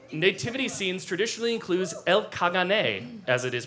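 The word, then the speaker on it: caganer: In Catalonia nativity scenes traditionally includes elk kagane as it is pronounced in Catalan a figure doing what?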